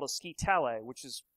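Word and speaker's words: scytale: They wound a leather strap around a baton called a scitale, which is pronounced kind of like Italy, spelled like skytail.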